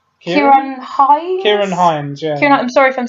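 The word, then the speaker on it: Ciarán Hinds: Like you have, I can't remember, I never know how to pronounce his name. It's Kieran Hines? Kieran Hines, yeah.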